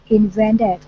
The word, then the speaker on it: invented: All right, so The word is invented. Stress in the middle.